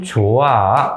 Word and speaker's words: 좋아: 그런데 발음은 어떻게 된다? 여기서는 발음 기호 큰 꺽쇠가루 안 집어넣는데 여기서 나는 네가 참 좋아 이렇게 되는 거죠. 자, 여기 분명히 히읗이 있는데 여기 뒤에 이응이 있어요.